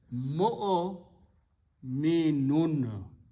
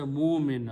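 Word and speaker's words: مؤمنون: So the word is mo'o minun. There is no wow anywhere. Wow we add in the script writing as a chair of hamza. Don't pronounce this wow. Don't say mu'min or mu'min.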